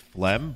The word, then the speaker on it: phlegm: what that is uh it's just phlegm but the way that phlegm is spelled is like him and my four-year-old brain